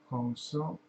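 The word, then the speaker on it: Hong Sau: When we inhale, we mentally pronounce Hong, H-O-N-G, and when we exhale, we mentally pronounce So, S-A-U, Hong So, that in Sanskrit means I am Him, I am God.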